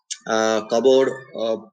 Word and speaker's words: cupboard: Cupboard P is silent, cupboard, or X is silent in Xerox, or Z is silent in rendezvous.